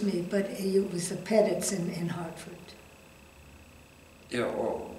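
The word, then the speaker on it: Petit: in Hartford I landed with a family called pedit uh who at the time had an infant child and that's spelled p e TI T TI T oh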